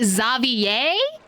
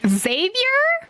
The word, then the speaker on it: Xavier: back in Fontaine now I'm sorry we pronounce it zavier it's not Xavier I hate it he